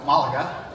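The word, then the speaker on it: Málaga: Malaga.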